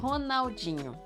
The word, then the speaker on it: Ronaldinho: And Ronaldinho, or Ronaldo Gaúcho. We have both. The R in the beginning of words with a vowel right after sounds like H. Ronaldo, Ronaldinho.